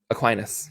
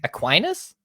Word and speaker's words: Aquinas: there you go what how do you pronounce a that first one uh aquinas aquinas i wouldn't have gone aquinas yeah it's like aquafina but then aquin aquinos